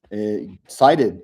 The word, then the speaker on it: Cited: Cited is the name of the book. Cited. How that's CITED, not SHIGHTED.